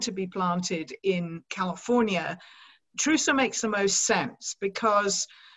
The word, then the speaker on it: Trousseau: And forgive me, I'm just calling it like the French do Trousseau, because of what you said earlier on.